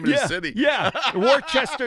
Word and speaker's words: Worcester: You mispronounced the name of the city. Yeah. Worcester. It's Worcester.